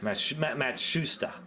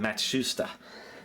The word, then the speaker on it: Matsushita: You know, Panasonic, I always used to call it Matsushita. Turns out I think it's pronounced how do you say it? Matsu. I can't even say it now. Matsushita. That's it, Matsushita.